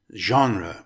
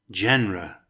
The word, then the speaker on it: genre: The word genre is made up of two syllables. It's pronounced genre with the emphasis on the first syllable. Genre, not genre.